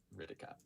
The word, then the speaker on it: Kritika: So as for pronunciating my name, it's Hritika. So take the H, throw it out a window, and Hritika. Ritika.